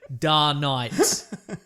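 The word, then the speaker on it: DarKnight: it but they're wrong you would pronounce that word da night like duh yeah night when do i put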